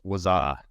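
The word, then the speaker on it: Wazuh: going to talk about, I think it's just pronounced Waza, right?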